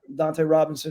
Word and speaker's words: Dunta Robinson: Dante in a spot Dante Robinson is how it's pronounced you're paying a guy